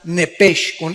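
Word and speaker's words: נפש: es la palabra netage apúntala como suena nepe con sh se pronuncia nepec al morir algo se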